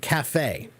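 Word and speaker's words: café: C but we don't we keep the French pronunciation right so um yeah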